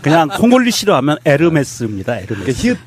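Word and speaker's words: Hermès: 홈 애스 아깝다 아 아 양호 몰리 싫어하면 에르메스 입니다 이렇게 지욱 발음이 안 난다 면서 요금이 에어 h 가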